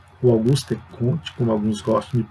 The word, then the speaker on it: Auguste Comte: religião de seus escritos por exemplo você pega augusto comte auguste comte com alguns próximo de pronunciar ele que é considerado o pai da